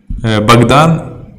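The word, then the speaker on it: Богдан: fact in fact Bogdan baghdan it's written like Bogdan but it's pronounced like Baghdad so book in Russian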